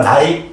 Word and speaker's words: 내: 그러면 자, 혜주야 이건 네라고 읽으면 된다 안 된다? 안 된다고. 이거 중세 당시는 무슨 모음이라고? 이중모음이라고. 그러니까 나이 이렇게 읽어. 나이. 알겠지? 네라고 읽으면 안 돼요.